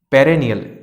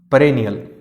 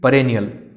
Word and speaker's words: perennial: So many people, I have noticed that so many people pronounce it perennial. It is not perennial, it is perennial. The pronunciation, right pronunciation is perennial.